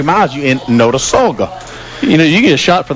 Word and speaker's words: Notasulga: We were discussing the Pat Dye show that Coleman was referencing earlier was produced and what's pronounce that place again? Notasulga.